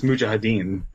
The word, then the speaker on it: mujahideen: he hates middle easterns it says muhadeen or mujahideen you say that's not what it is it's mujahideen you said you said moo